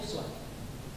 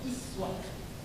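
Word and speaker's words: أسوة: Kita bacanya uswah. Riwayat lain, riwayat Qalun dan Warsh. Di Quran ada 7 riwayat. Di antaranya Qalun dan Warsh dari Nabi, riwayatnya tidak membaca dengan uswah, dibacanya iswah. Jadi ini bisa uswah, bisa iswah.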